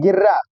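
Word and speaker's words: guerra: केवल हम लोग इसमें फिर अगर जैसे जी यू और ई लिखा है तो इसमें यू को छोड़ करके केवल हम लोग जी और इ का ही प्रोनाउंसिएशन करते हैं तो उसका प्रोनाउंसिएशन जो होगा वो गे हो जाएगा। जैसे एग्जांपल में देख सकते हैं। एग्जांपल में देखेंगे जैसे लिखा है गेर्रा गेर हो गया।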